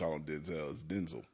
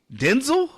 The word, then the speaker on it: Denzel: of the sophisticated Zale right two syllables den and zail Denzel Denzel that sounds dull